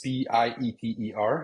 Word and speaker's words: Pieter: It's Pieter. It's like Peter in English, but then with the I before the E. That's how we pronounce it in Dutch.